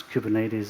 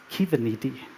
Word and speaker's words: Kubernetes: in here except for Kasper knows how to pronounce Cuban ladies in Greek this might happen because kubernetes is